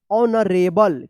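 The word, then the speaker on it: honourable: देखिए यहां पे एच ओ एन ओ आर ए बी एल ई। इसको क्या पढ़ेंगे? ऑनरेबल। क्या पढ़ेंगे? ऑनरेबल पढ़ेंगे। यहां पे भी एच क्या है? साइलेंट है। ठीक है?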